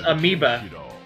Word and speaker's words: Amiba: instead of white and his name was amiba but it was spelled like am IBA Battle 2 decide the